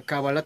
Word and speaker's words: cábala: Ya en castellano se pronuncia cábala, tengo entendido que en